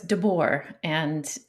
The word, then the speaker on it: deBoer: the english pronunciation uh so it's de boer um and it is dutch so i'm not sure how you pronounce it there but yes very very close to that the bor the boar yeah okay so welcome